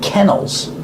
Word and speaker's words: kennels: These cats are kept in kennels. They're like cages for animals. They're called kennels. Use the short e sound like pen and t ke k k